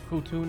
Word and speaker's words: Futo: Futo is pronounced Futu, not Futo like Alistair does, because in Portuguese it reads different.